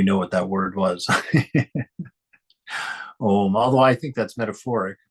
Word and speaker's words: Om: And so when you say Om, when you say it properly, it goes Om.